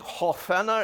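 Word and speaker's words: hårføner: half honor and uh if any of you read norwegian it's uh i think hawfena is a better pronunciation it's the norwegian word for hair dryer and so i ask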